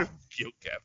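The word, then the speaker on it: Enver Gjokaj: How am I supposed to pronounce that? Enver Gyokev. Oh, wow. Gyokev, yeah.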